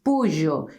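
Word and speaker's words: pollo: the same but chicken is not polo is POJO because we have Double L so remember polo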